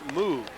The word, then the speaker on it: Moog: Moog, spelled the same as Andy Moog of the NHL, but pronounced Moog.